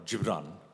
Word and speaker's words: Gibran: read it first, but Khalil Gibran, or Gibran, is the right pronunciation, the Lebanese philosopher, he said, love the idealism of youth and the wisdom of age.